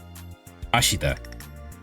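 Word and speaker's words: 明日: Ashita. 明日、 Ashita.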